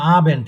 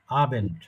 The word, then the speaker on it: Abend: আচ্ছা, আবেন্ট এইভাবে বলেন, আবেন্ট।